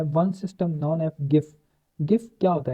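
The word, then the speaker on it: GIF: गिफ, गिफ stand for graphic interchange format and pronounce गिफ, ठीक है, इसको गिफ भी कहते हैं, हम कुछ जिफ भी कहते हैं, ठीक है, तो नॉर्मली इसको गिफ कहते हैं, ठीक है।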